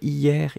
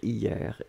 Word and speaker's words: hier: Souvenez-vous, on l'écrit avec un H, mais le H est totalement muet. Hier, hier, hier.